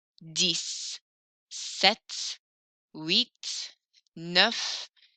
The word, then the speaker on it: dix: Rhymes with six, spelled the same.